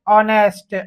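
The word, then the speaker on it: honest: कुछ ऐसे शब्द जहाँ पर पहला ही लेटर साइलेंट होता है, जैसे ऑनेस्ट, यहाँ पर हमें रीडिंग की आवश्यकता है।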